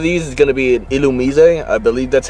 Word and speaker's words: Illumise: this one of these is going to be illumise I believe that's how you are technically supposed to pronounce it next encounter is gonna be a